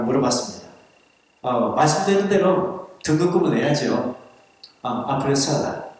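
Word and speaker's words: après cela: 노터와 아프리셀라. 아프리셀라라고 해야 되는데 아프리셀라 그 발음이 되겠죠?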